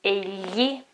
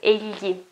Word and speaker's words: egli: The way to pronounce that is not very easy because you have to do many things at the same time. So basically you move your tongue backwards and the back side